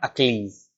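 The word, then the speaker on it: Achilles: ठीक है, इसका जो प्रोनाउंसिएशन होता है वो क्या होता है, अकीलीज। ठीक है, अकीलीज, याद रखना, इसको बोलते हैं अकीलीज।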